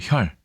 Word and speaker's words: 孑: 하지만 이것은 아들 자자라고 읽지 않습니다. 바로 보시겠습니다. 이 글자는 일단 준 특급에 배정되어 있는 외로울 혈자입니다. 외로울 혈.